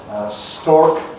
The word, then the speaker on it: stork: So for people who have a rhotic accent, that is retaining the R, stork, the bird, and stalk, the stem of a plant, are different. But for me and for most English people, stork and stalk are identical.